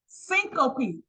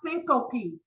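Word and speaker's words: syncope: in your book on page 34 it is pronounced syop okay it is pronounced syop s y n c o p e what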